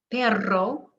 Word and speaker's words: perro: get the word started now this is really important because it can change the meaning of a word aro with the tap means expensive means or in order to parra is somebody's last name pero means but as in i want to but i can't perro means dog so really important to master the difference